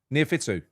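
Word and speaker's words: Neophytou: Did I actually pronounce it? Did I say, was it Fatakis and Neophyton? Neophytu.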